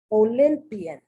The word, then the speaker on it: Olympian: the crazy why but one is pronounced like the short eye not the long eye olympian olympia olympics onyx that's